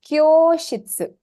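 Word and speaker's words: 教室: Now, which sound am I elongating as I pronounce kyoshitsu? Kyo. Kyo, The the O Kyo.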